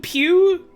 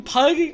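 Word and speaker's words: Pugh: is a group of game developers I know pronounce Pew okay thank you um I recognize one of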